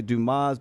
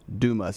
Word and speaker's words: Dumas: so it's Dumas Rockstar says most people say Dumas but locals pronounce it as Dumas d o m u SS Dum Dumas is